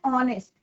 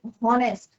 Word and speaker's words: honest: कई बार बच्चे बोलते हैं इसका प्रोनाउंसिएशन की हॉनेस्ट, हॉनर या हावर, तो दैट इज योर रॉन्ग। इसका प्रोनाउंसिएशन क्या है, ऑनेस्ट। ओ का प्रोनाउंसिएशन आ रहा है, ओ का साउंड आ रहा है, वोवल साउंड आ रहा है, तो हम यहाँ क्या लगाएंगे, एन ऑनेस्ट मैन, an honour.